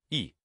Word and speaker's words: 议: In today's video, we'll teach you the Chinese character for proposal, pronunciation. Yi.